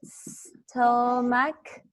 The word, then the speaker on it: stomach: Stomach. And CH sounds like K.